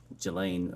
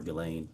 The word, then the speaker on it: Ghislaine: Um As best as we know, it's been publicly reported that in 2024 uh Ghislaine Maxwell, or Ghislaine, I think it's how it's pronounced, arranged and wired $1